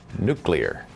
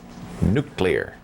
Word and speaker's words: nuclear: And by the way, it is pronounced nuclear. Nuclear, not nuclear.